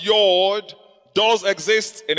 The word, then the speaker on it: Yod: Rather, Y, pronounced as Yod, does exist in its place.